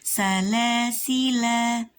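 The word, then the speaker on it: سَلَاسِلَا: Ini nggak perlu dibaca kalau diwasolkan, tapi kalau diwakofkan maka kita bacanya bisa 3 wajah atau 3 cara. Salasila atau salasil.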